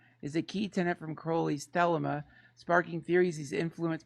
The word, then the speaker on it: Crowley: It's pronounced Crowley.